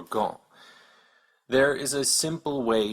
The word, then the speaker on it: gant: This is why you don't hear any P's, D's, or T's in loup, réchaud, or gant.